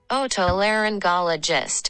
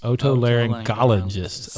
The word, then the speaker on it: otolaryngologist: and do it again otolaryngologist otolaryngologist i was like the g is there you can't just say laryn ologist i was saying that